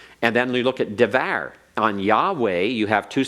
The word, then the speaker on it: Yahweh: And I'll put the pro- pronunciation here this way so we can see it, the proper pronunciation, Yahweh.